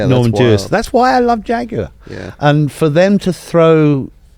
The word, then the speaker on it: Jaguar: week Jaguar I think repeat after me Ben Jaguar Jaguar bloody good Jaguar Jaguar yes Jaguar Jag we